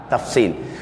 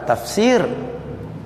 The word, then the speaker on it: tafsil: pe sa ya lam tafsil bukan tafsir tafsil al-quran tu lain ejaan tu Sin ya ro n ya lam tafsil tafsil ni makna terperincilah